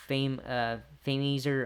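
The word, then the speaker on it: Fameasser: Bowens hit the Fameaser on Jericho.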